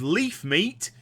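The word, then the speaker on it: Levemete: speak to the respective Leaf meat yes that is how you pronounce it in whichever town I'm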